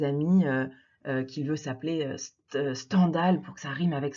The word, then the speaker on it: Stendhal: on il est établi qu'il faudrait plutôt le prononcer stendhal comme scandale puisque c'est lui qui dit dans une lettre à 1 un de ses amis qui veut ça plaît stendhal pour que ça rime avec scandale puisqu'il à